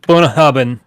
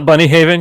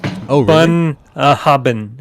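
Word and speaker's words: Bunnahabhain: It's like I always call it bunny haven because there's so many letters there. But apparently that giant stretch of letters is three syllables like bun hubbabin or something like bun bun hubbin. Maybe four syllables.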